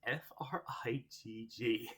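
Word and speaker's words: Frigg: Okay, so apparently, in order to avoid troubles, the actual pronunciation is F-R-I-G-G, which is Frig.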